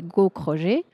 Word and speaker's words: Gaukroger: mon nom de famille beaucoup moins facile à prononcer qui est gauchroger j'ai eu Kro g e r donc voilà